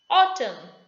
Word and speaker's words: autumn: Autumn, N is silent.